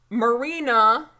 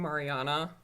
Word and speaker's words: Marina: I've ever seen and marina I said it right this time Chris wicked see I kept saying Mariana Marina just making sure